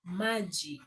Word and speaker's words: maji: Water is maji. Magi. M A J I M A J I M. Yeah, that's the Swahili word for water or water.